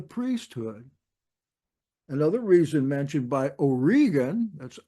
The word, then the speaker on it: Origen: another reason mentioned by Oran that's o RI g n some people pronounce that wrong as origin but it's or just like he was an Irishman Oregan quoting Josephus that the